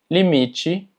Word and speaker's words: limite: Y es que cuando las palabras terminan en TE, normalmente TE se pronuncia como chi. Por poner algunos ejemplos, limite, combate, chocolate, dente.